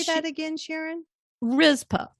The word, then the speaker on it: Rizpah: Rizpah, Rizpah.